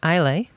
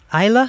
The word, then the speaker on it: Isla: It's Willow and Isley. Let me just double check that. Isla, sorry, Willow and Isla. They're so many silent letters in that name.